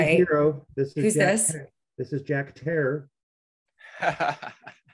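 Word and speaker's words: Jack Herer: strain is Jack hair I pronounced it wrong forever and called it Jack Ferrer and I was told this Jack it's Terror like Terror so this is Jack Terror and he's the badass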